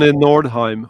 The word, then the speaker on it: Nordheim: to do remixes of a guy named Arn Nordheim. Is that how do you pronounce Nordheim who's who's the greatest electronic music composer of Norway.